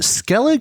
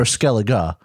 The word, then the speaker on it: Skellig: the largest island and is it skellig or skelega i don't i think it could go either way okay pronounced both ways even in the series but what it is